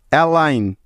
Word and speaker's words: align: অ্যালাইন, ALIGN, অ্যালাইন। প্রতিটি উদাহরণে এন এর আগে জি আছে, তাই এখানে জিটা সাইলেন্ট আছে।